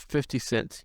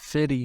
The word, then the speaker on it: 50 Cent: ] this was crazy white people should always clearly pronounce 50 cents he's not fitty for you fitty hey I got 50 cents for you yeah that sounds crazy 50.